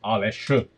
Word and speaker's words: Aleš: But technically it's Aleš, which is a Slovenian name, but since nobody can pronounce this, you know, for all intents and purposes, it's Alex, which I prefer as well.